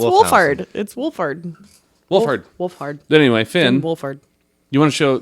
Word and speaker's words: Wolfhard: want to show paul rudd uh wolf finn woolford did i say his name right wolfened hound hand wolfhand something i can't remember it's wolfard wolfhard wolfhard anyway finn wolfhard you want to show those